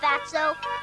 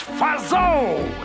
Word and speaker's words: Fatso: What do you have in mind, Fatso? It's Fazo. The T is silent.